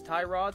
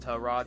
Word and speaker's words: Tyrod: else have been referring to this man as Tyrod since he entered the league and then one day a teammate of his came out and was like oh yeah by the way his name is pronounced tell Rod he's just too nice to correct anybody same